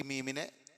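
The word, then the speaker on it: مِن: ഈ അടയാളം ഇവിടെ കൊടുത്തത് അപ്പോ മിൻ എന്നല്ല ഇവിടെ ഉച്ചരിക്കേണ്ടത് മറിച്ച് എന്താണ് മിം എന്നാ ഒപ്പം തന്നെ മണിക്കും വേണം അം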